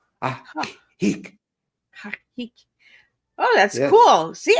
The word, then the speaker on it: Ajijic: So 2 J's, they're both silent. They're pronounced in Spanish as ha, Ajijic.